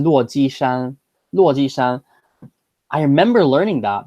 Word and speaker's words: 落基山: It's 落基山, 落基山.